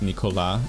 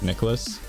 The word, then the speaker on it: Nicholas: they assume that like my first name should be pronounced nicola instead of nicholas that's a little